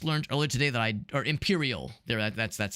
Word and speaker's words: Empyrean: Empyrean comes out tomorrow, and I just learned earlier today that or Imperial. That's how you pronounce it, or that's the name of it rather.